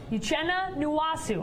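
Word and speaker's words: Uchenna Nwosu: Now, the Chargers, Uchenna Nwasu.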